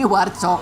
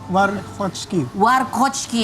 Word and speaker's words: Warkocki: Aku bacanya tadi Warcok. Ternyata Warkocki.